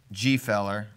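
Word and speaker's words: Gfeller: You know, I got changed to start saying Gefeller because someone was like, that's how you say it. And then G and John Smith say G. Feller.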